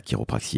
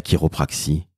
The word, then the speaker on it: chiropraxie: a XIe et oui ça se prononce quelque part à l'américaine donc vous allez sur